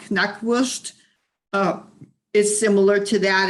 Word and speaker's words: Knackwurst: Yeah, Knackwurst. Yeah, because in German you pronounce the K in front.